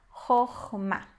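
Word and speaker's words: חכמה: A segunda sílaba a gente vai ler como A, porque apesar de ser uma sílaba fechada, ela é uma sílaba tônica. Então, Chokhmah.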